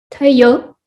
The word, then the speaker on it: tayo: Tayo, Yes, tayo. Yeah, tayo. And it's a glottal stop, and it's accented on the second syllable.